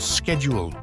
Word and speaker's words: schedule: Consider words like herb, where Americans drop the H, or schedule, pronounced with a esk sound in American English and a esh sound in British English.